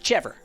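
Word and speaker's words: chèvre: I'm from Texas. It's pronounced chever. It's like cheddar, but it's chever.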